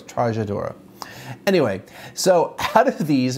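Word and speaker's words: Trajadura: sometimes I went, oh, I know how to pronounce that, which I kind of stumbled over Trajadora instead of Trajadora, it's Trajadora.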